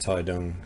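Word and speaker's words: Taitung: takes me to my next destination, which is Taidong. Spelled Tai Tong, but it's pronounced Taidong.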